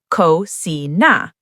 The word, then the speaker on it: cocina: Wait, actually, cocina ends in a vowel, so it's second to last. Cocina. That one is stressed on the second to last syllable.